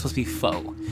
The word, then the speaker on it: faux: I know I say foo, but it's supposed to be faux. It's supposed to be pronounced faux, but I say foo.